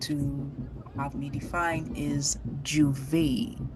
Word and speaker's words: juve: have me define is juve. So, we say Juve. We might have different pronunciations, and of course, the French speaking islands and French would, be better at pronouncing this.